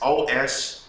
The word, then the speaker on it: Ostara: It goes back to, and I can't pronounce this thing's name. Ostara. It's Ostara.